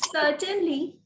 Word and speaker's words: certainly: may i yes yes certainly so could you say that again please is that you shita certainly is correct so do not pronounce the r there okay who's going to